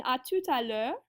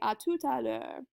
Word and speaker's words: à tout à l'heure: And then in à tout à l'heure, you kind of shove all those words together. It almost sounds like one big giant word, right? À tout à l'heure.